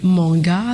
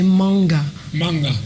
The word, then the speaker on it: Manga: souci c'est que Manga, donc M-A-N-G-A, dans le littoral, on dit Manga. Manga. Non, on dit Manga. On dit Manga. Maintenant, dans le centre, on dit manga. Pourtant, c'est le même nom, mais les prononciations sont vraiment différentes.